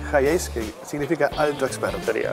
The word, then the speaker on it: Hiace: Y por eso se pronuncia Hi-Ace. Hi-Ace, que significa alto experto.